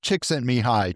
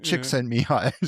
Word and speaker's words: Csikszentmihalyi: He asked his graduate students to call him Mike because he knew his name was hard to pronounce. I'll say Csikszentmihalyi, Csikszentmihalyi.